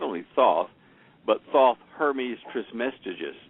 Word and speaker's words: Thoth: To spell that name. Is it Thoth? Are you saying Thoth?